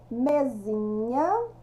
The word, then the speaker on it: mesinha: ficar mesinha é tão mesinha Lembrando que mesinha continua com a escrita é se tem o som de z mas eu escrevo com s e café vai virar